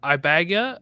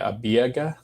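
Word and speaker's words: Ibeagha: mulatto Sebastian Eva uh ibaga right how do I pronounce that I would say abiaga I have no yes you're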